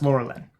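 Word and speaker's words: Lorelen: Laura Len okay great but it's pronounced Laura Lynn yeah and then you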